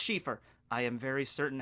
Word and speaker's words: Cifer: And by the way, is your last name, is it Schiffer or Cifer? It's Cifer. Oh, okay, so it's spelled with an SH. No, it's spelled with a C.